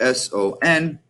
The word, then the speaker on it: son: So right here, we're going to type S-O-N. Son. Looks like sun, right? But notice in Spanish it's son.